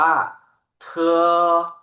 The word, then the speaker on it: t: เต่า นะ ครับ เตอ ส่วน ตัว t ครับ ออก เสียง ว่า เธอ เธอ ถัด มา ครับ ตัว